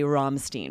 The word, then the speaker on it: Rammstein: Even Americans would just say Rammstein when it's a band from Germany or from another country. Even we say it in the accent that band would say it.